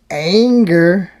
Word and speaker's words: Anger: There's Jennifer Anger, rhymes with danger, not Anger.